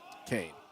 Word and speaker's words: Kean: So is it Kane? Is that how you say it? Kane.